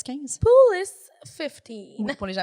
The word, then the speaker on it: POUL15: Et comment ça se dit, ça se prononce comment, POUL avec un S 15? Poulis 15.